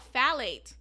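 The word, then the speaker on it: phthalate: let me try phate phate Okay it's called phate that's how you pronounce it okay so it's phate again it's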